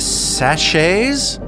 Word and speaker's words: sachet: water a makeshift electric stove and some faded sachets how do we feel that word is pronounced sachet yes thank you according to Google